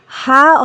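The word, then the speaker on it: ح: হা হলকের মধ্যখান হতে উচ্চারিত হবে। এই যে দেখতে পাচ্ছি আমরা, এই ছবিটা লক্ষ্য করো ছোট্ট বন্ধুরা। ছবিটাতে দেখতে পাচ্ছ ঠিক এই জায়গা থেকে, কণ্ঠনালীর এই জায়গা থেকে উচ্চারণ করতে হবে। হা, হা। গলা থেকে একটু বাতাস বের করে দিতে হবে।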